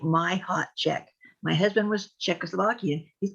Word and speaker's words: Machacek: get that nope nope it's mahek and it's Czechoslovakian and the first sea is silent so I tell people it's like you you pronounce it like my hot check my husband was Czechoslovakian